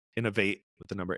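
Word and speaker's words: Inov-8: Innovate is INOV and then the number 8.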